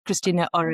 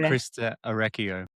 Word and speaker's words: Christa Orecchio: I think maybe Christina, I never can say her name, Christina Ore. Krista Orecchio.